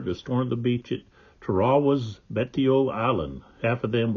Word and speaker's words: Tarawa: of the soldiers were they referred it by saying uh teraa instead of Tera so I looked it up and online there's a website that had the pronunciation that's what they said they said uh they pronounced it uh trawa so all right um